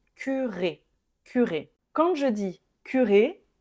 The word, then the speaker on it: curé: Ensuite, ici, on doit ajouter un accent, mais c'est la seule, ça change donc la prononciation, hein. On a ici le mot cure et ici, je vais prononcer curé.